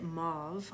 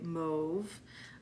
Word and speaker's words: mauve: see what else now some people say mauve I would say move but it depends on anyone's pronunciation um oh you like